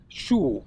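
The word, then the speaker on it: 熟: but they tend to use the word shu, which is also second tone rising, so shu xiang, which means cooked fragrance.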